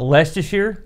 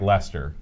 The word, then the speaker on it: Leicester: this place here uh Lester shear oh you're so close it's just like Lester like Lester the unlikely okay he's gonna be